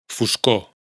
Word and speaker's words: foscor: Por otro lado, esta omisión de la R afecta especialmente a las palabras monosílabas y las agudas, es decir, las que tienen el acento en la última sílaba. Carrer, calle. Foscor, oscuridad.